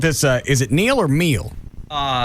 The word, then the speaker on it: Hmiel: Is it Neal or Meal? His name is spelled Hmiel, and it's pronounced meal as in dinner.